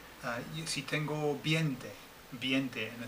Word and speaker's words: veinte: But of course, we English people tend to want to put the E first, so we tend to say veinte, and it's not. It's veinte, okay? Which rhymes with twainte.